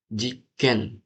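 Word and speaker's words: 実験: juga chicken ada su kecilnya guys.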